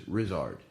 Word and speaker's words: Ryszard: descent okay and my name in Polish is ryszard okay yeah so for years I used to